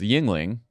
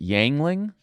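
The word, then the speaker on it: Yuengling: popular beers in Pennsylvania is of course is Yingling and he called it yangling I mean that you you you'd have to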